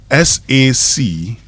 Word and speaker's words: sachet: S-A-C-H-E-T. S-A-C-H-E-T. Okay, how's it pronounced?